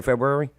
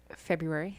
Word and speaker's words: February: How do you say February? February. Yeah, 2 R's.